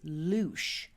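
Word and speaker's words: Luis: Rowan stands for the second letter in the Augum tree alphabet and it is known by the Kelts as luch. It's spelled L U I S.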